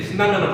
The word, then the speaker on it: 신라면: 니은, 니은으로 발음하게 되는데 신라면은 거기 안 들어가 있잖아.